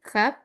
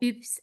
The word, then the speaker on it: hub: Bien, uno los pronuncian a la H, si lo pronunciamos desde el inglés, hub. Bien, y si no como ups, bien, sería la pronunciación en el francés. Recuerden que la U suena U.